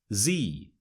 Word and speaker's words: Z: We say Z, whereas Americans say Z. So when we say zebra, Americans say zebra.